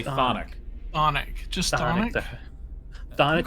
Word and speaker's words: chthonic: You don't pronounce the CH at all. You just say thonic.